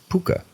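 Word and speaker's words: púca: to be a puka, pronounced puka. It's spelled P-U-C'-A, however. The puka is a fae,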